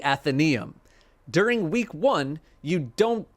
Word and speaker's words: Athenaeum: want in this area the anatheum no that's not the I forget how to say it athenium athenium you'll activate and deactivate which ones you want in this area the athenium athenium athenium yeah I was right in this area the Athenaeum during week one you